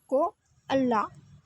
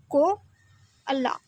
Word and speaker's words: koala: So today we will start our next lesson number 2, Ko Allah. How it is pronounced? Ko Allah.